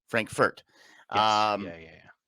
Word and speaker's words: Frankfurt: Frankfurt it's something else Frank not Frankford Frankfurt um yeah yeah not